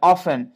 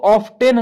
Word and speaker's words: often: ऑफन, इसको T silent होता है, ओ एफ टी एन, इसको ऑफ्टेन नहीं पढ़ना है, क्या ऑफन।